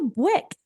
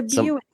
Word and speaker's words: Buick: I was like Wick what's what's a bick she literally had never heard of Buick in her entire life and I'm laughing she's like I couldn't is how do you say it I said it's it's it's a Buick I couldn't I'm like